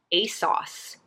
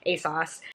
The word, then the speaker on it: ASOS: calling it a sauce they were calling a sauce and i was like if i've been saying this wrong this whole time asos i mean i guess that's how you say it if that's how they were saying it in their commercial but like kind of